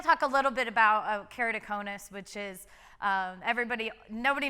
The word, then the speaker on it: keratoconus: and then we'll talk a little bit about keratoconus which is um everybody nobody knows how to pronounce that everybody's always keratoconus so i'll tell